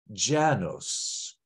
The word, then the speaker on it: Janus: January is named after the God Janus or another accepted pronunciation Janos the author of today's